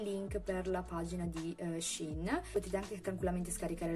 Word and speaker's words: Shein: ovvero sheen ed emessi si chiama scena io ho scoperto che si pronuncia così in una scena in